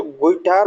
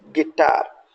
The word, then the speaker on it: guitar: Next one इज GUITAR, बच्चे generally mistaken करते हैं, गलती करते हैं और उसको गुइटार बोलते हैं, so this is wrong one, सही प्रोनाउंसिएशन दैट इज गिटार।